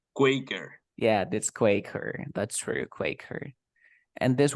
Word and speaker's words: Quaker: how do we pronounce it no I always pronounce it like quacker but I think it's Quaker yeah that's Quaker that's very Quaker and this one the same